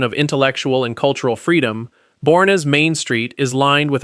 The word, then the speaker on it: Boerne: Number nine, Boerne. Boerne, pronounced Bernie, is the town Hill Country locals